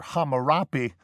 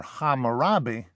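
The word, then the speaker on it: Hammurabi: of hamurabi or hamari this is one of those instances I was talking about where they're different pronunciations uh are preserved and influential to this day meanwhile you have the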